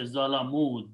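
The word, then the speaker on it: ظلموا: Okay, you write an alif extra. And when you pronounce, you say Zalamu, they did wrong.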